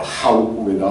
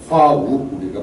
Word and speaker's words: 화우고개: 근데 지명이 각 지역별로 발음이 틀리다 보니까 뭐 하우고개다, 허우고개다 뭐 이러는데 화합할 버구 이 고개 맞습니다. 화우고개가 맞습니다.